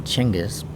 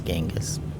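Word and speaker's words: Genghis: to do with him or how they really pronounce his name chenis the Western Way you pronounce it is gangas well you're a pragmatist then I'm for whatever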